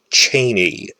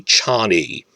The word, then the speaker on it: Chani: Like, I always say Chaney when it's really Chani, so forgive me if I slip into that.